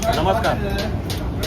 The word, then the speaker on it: Namaskar: Namaskar. Namastar.